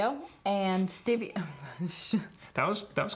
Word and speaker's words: Daviau: me well that was our interview with Davey oh and Davey that was that was correct it was close as British there's borderline on mispronunciation the one thing that I really was